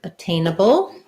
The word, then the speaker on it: attainable: we were talking about the initial a um not being an a sound but rather a schwa sound because we have the stress on the tain so in a word